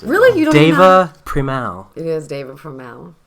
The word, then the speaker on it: Deva Premal: wow you know how to say her name Diva Primal no I know what it I see the name of my head I don't know how to pronounce it really you know Deva premal it is David from now that's true and